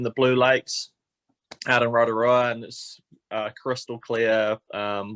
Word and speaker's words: Rotorua: saying this correct but is it the rotorua is how you say it or no that's great yeah normally uh normally yeah people get there a little bit wrong but now that was perfect okay so so sounds like